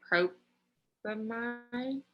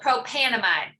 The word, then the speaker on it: propanamide: Would the ending just be propamide? So instead of propane or propanoic acid, what did you say, Robin? Propamide or propamide, however you want to say the amide part. You're missing one syllable, propanamide.